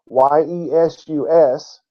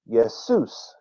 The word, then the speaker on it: Jesus: roughly 600 years ago the J made the ye or Y sound it was still pronounced yesus even though it was spelled with a J it was still pronounced